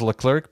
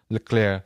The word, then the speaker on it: Leclerc: Because Hamilton is Leclerc. UK? There's Leclerc. Hamilton UK. Leclerc. Lewis Hamilton. He's English. His name is like you would think it's Charles Leclerc, but it's Charles Leclerc.